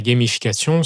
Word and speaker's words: gamification: Donc, la gamification, bon, c'est un mot anglais que je prononce bien à la française, mais l'idée, c'est de rendre l'apprentissage un peu comme un jeu.